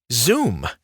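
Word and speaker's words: Xoom: of money next up zoom zoom spelled with an X is a PayPal service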